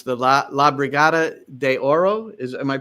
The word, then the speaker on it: La Brigada de Oro: It's the La Brigada de Oro. Am I pronouncing that?